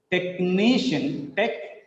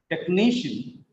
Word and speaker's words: technician: Technician. Three syllables are there. Second from last is stressed. Technician.